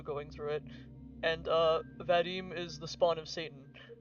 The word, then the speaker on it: Vadim: I think uh you're supposed to pronounce Vadim with like a more emphasis on the I.